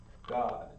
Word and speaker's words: Gad: it or not the tribal gag is going to be pronounced god the proper guy in hebrew is actually pronounced god now why is that